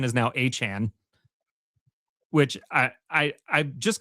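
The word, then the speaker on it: Etienne: Uh actually, it's the artist formerly known as Travis ETN because the official pronunciation is now Achan, which I I I'm just going to call him the artist formerly known as Travis ETN all season.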